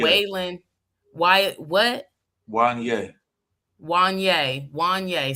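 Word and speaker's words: Wanyá: And yes, Brandy Norwood brought up dating Waylon. I never can pronounce his name. Wanye. Waylon. Why? What? Wanye. Wanye. See, like Kanye, but Wanye.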